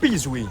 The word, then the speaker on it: 闭嘴: Bizui Hamza. Bizui. It's so hard to pronounce Chinese words wrong.